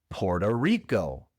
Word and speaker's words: Puerto Rico: Puerto Rico. Puerto Rico. Quién sabe por qué se pronuncia así en inglés, pero así lo pronunciamos.